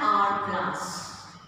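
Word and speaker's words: hourglass: But H is silent, we say R, it has a vowel sound, so we say an R glass.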